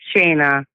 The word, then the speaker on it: Shayna: wait so Shayna yeah it's Shayna but it felt like China oh okay okay yeah